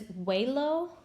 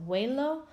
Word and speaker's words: huelo: So it is huelo, you pronounce it kind of like with a W, so huelo, hueles, huele, olemos, and huelen.